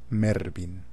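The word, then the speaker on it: Mervyn: recordar a vuestro oído la palabra que se pronuncia mervin cómo ha cambiado avanza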